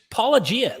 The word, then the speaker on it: Paulogia: Why do Christians not pronounce his name? Just Paulogia. Like, how hard is it to just say Paulogia?